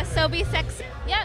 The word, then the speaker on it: Asobi Seksu: fun fun FunFest with Asobi sexu how do you say your name is it as soie sex y you said it correctly it's just we started